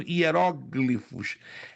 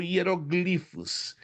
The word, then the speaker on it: hieróglifos: Alguns pronunciam hieróglifos. É correto? As duas pronúncias, hieróglifos ou hieroglifos não eram ah letras do nosso comum alfabeto, eram símbolos.